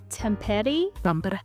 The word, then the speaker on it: Tampere: Temper Okay.